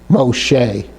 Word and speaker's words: Moshe: It gives an E type of sound. Moshe, Moshe, mem, sheen, and hey, Moshe.